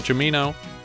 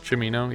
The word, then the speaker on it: Cimino: and directed by michael ciamino and released by united artists is how you say it chamino yeah it's a ch sound i should also specify